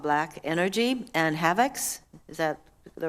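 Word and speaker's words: Havex: And specifically, you identified 2 malware attacks called Black Energy and Havocs. Is that the right pronunciation?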